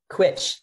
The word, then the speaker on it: Cwtch: to look at CWTCH, switch maybe, is that how you would pronounce it? Quitch, great. I'm going to look at that. I just opened it. And now rhymes with butch.